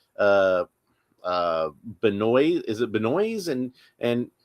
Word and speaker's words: Benoist: It's Melissa Benoist. That's how she pronounces her name. I looked it up. I found video of her saying her own name, and she says Benoist.